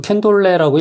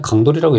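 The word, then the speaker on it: Candolle: 자, 캔돌은, 이거 캔돌레라고 읽지 말고 그냥 강돌이라고 읽으세요.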